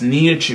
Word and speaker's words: Nia-Chu: It's like Pikachu, but it's Nia-Chu.